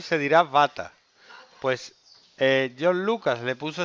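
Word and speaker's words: Vater: váter a ver la pronunciación es muy importante se escribe butter no y se dirá bata pues John Lucas le puso este nombre dando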